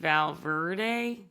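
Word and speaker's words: Val Verde: I realize that the name of our town is pronounced Valver. Is that what you've been saying this whole time? It's Valver. Like we're having a very val. If you say Verde, you're going to get killed on street.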